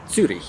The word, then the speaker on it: Zürich: those 2 little dots over the U and pronounced as Zurich.